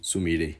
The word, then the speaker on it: Sumire: Isso é porque a gente também tem o caso da Sumire, ou Sumire, né? Na pronúncia mais próxima.